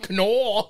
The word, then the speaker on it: Kanawha: can River Valley yes what can can can it's the can River Valley that's the ancient Native American pronunciation you know I stepped